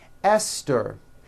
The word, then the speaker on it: Esther: like to point out although these next words and names are spelled with a th they are pronounced as if they were spelled with a normal t t like that and these words are thomas